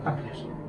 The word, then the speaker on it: páncreas: El páncreas. Esdrújula, puesto que la écola no hace sílaba. 1, 2, 3, pues la anterior, fuerte, esdrújula, acento, páncreas.